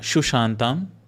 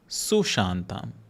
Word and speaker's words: Sushantam: The first one is Sushantam. It is not Shushantam, Sushantam.